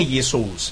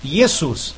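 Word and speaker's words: Ἰησοῦς: a pronúncia não é ious porque esse ditongo que se formou o o com u tem som de u então a pronúncia é yesus transliteração é para mostrar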